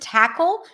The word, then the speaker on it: tackle: the pronunciation the word tackle starts with a t- sound it's an aspirated T by the way so you'll hear a little puff at the beginning then we have the